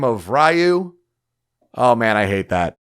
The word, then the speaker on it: Ryu: pronounce that name of ryu oh man i hate that no it's ryu because dragon that's what it is sorry everybody or ryu ryu is also acceptable yeah but ryu ryu hayabusa also ouch so